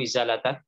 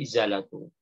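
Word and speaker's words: إزالةُ: Dan wajib izalah itu azala yuzilu izalatan, artinya menghilangkan. Dia jadi fa'il tadi, ingat ya, wajib yajibu fi'il lazim. Dia nggak butuh maf'ul, jangan dibaca tajibu izalata. Tapi izalatu. Ya.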